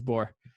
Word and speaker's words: Borr: um but no it yes it's bore my uh my husband's last name is nook and it's n-o-c-k and people pronounce it like knock knock yeah that's what